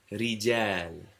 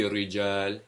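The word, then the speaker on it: رجال: Rijal, It won't be rijal, it'll be rijal.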